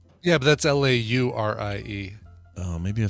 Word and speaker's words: Laurie: last name yeah that's l-a-u-r-i-e oh maybe i'm spelling it wrong no it is right i'm sorry l.a lori yeah but on him it's pronounced laurie but is it uh